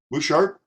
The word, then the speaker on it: Buschardt: hold on a minute bouchard yep that's it you don't pronounce the t one or the other you're not allowed to